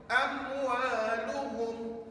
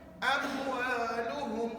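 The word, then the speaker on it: أموالهم: Amwaluhum. Amwal tu dibaca dengan jelas. Kenapa jelas? Sebab nama hukum ni izhar. Itu sebab namanya jelas, maka dibaca tanpa dengung lah. Amwaluhum.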